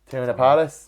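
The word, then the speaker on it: Teyonah Parris: I quite liked I think it's he pronounced it Tiona Paris, who's Monica.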